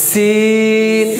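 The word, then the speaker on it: سين: কয়টা হরফ দুইটা হরফ এই হরফটার নাম কি সিন আর আমরা আলহামদুলিল্লাহ সবাই জানি এই হরফের নাম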